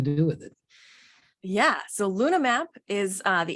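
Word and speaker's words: LunaH-Map: Yeah, so LunaMap is the H is silent. It's Luna H map, but the H is silent because we're looking for it.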